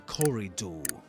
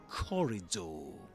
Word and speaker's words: corridor: The corridor. That's the way you pronounce that word. Yeah, the corridor. Repeat after me, guys. Corridor. It's like Corey plus the word door. corridor.